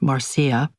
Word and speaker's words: Marsha: I accepted a resume and headsh shot from the father of my friend Marsha, which she pronounced Marcia.